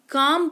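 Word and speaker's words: calm: कि पाम इसको पा कालम नहीं पाम पढ़ते हैं यानी कि हथेली इसको कालम नहीं काम पढ़ते हैं यानी कि शांति इसको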